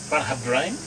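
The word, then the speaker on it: Bunnahabhain: Bunnahabane. All the years of bagging me. I can't pronounce it. Yeah, bagging me for home How do you pronounce that? You're the wine expert. Bunnahabane.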